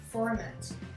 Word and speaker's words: format: Si par exemple j'ai format, et bien en anglais je dirais format. Format. Et ici le T est prononcé. Donc ça donne deux syllabes.